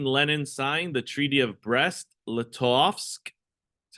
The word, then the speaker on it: Brest-Litovsk: So, March 3rd, 1918, Lenin signed the Treaty of Brest-Litovsk.